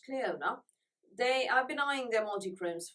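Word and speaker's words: Clionadh: it is c-l-i-o-n-a-g-h but apparently it's pronounced Cleona they are denying their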